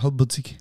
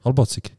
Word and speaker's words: halbbatzig: aber du sagst halbpatzig. Halbbatzig. Halbpatzig. Halbbatzig. Jetzt so, bravo. Bro, ich rede schnell, das kommt vielleicht von dem. Aber... Du hast, okay, ja, also... Hm? Du hast recht. Mhm. So schreibt man es. Und es kommt von Batzen.